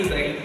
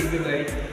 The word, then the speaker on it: duvet: So we say duvet. We don't say duvet, say duvet.